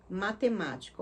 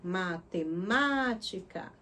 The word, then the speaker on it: matemática: Por exemplo, matemática, ó, matemática. O ma é o mais forte, né? E ela é a antepenúltima sílaba.